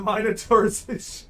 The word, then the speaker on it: Minotaurs: to be careful now we pronounce the i in the minotaurs a short eye here in the states at least in new england oh okay i've been